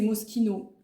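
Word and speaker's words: Moschino: Alors, moi je disais Mochino mais on dit que c'est Mosquino.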